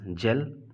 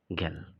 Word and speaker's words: gel: इट इज़ जेल, नॉट गेल, right? बढ़ते हैं जी के दूसरा साउंड ग की तरफ, ध्यान से समझिएगा।